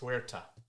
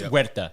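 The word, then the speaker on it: Huerta: pronunciation uh tanuk Hera I think it's herera y it's wera you don't pronounce the h bro I I I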